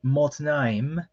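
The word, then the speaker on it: מָתְנַיִם: And then you have the word motnaim. If I recall correctly, that's the word for loins. So you have a comet here, but instead of the usual long A, it makes a short O sound.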